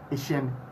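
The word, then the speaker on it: Eshun: For both Facebook and Twitter, kindly look for the handle at Samuel Ishen GH. At Samuel Ishen GH. Ishen is spelled E-S-H-U-N.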